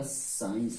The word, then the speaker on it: science: तो ये हो गया आपका साइंस हो गया, क्या हो गया, साइंस।